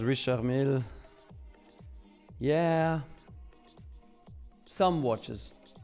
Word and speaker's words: Richard Mille: Titobi says Richard Mille. Yeah. Some watches. Or like Americans say, Richard Millie.